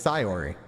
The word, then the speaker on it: Sayori: her name sayonara sori so it's sori yeah so it should have been sori I've been pronouncing her name wrong the entire game too